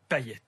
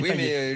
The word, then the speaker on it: Payet: Manu Payet. Il est réunionnais. Oui. Ça s'écrit pareil, on dit Payet. Oui, mais lui, Dimitri, il dit ça.